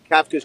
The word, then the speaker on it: Kafka: Kafka's calling plays. It's actually pronounced Kafka, and he's calling plays.